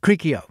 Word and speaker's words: Cricchio: Cricchio.